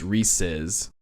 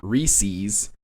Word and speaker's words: Reese's: say Reese's MH and let me be really specific it's Reese's because that's what rhymes with pieces it's not Reese's because pces isn't a freaking word that is such a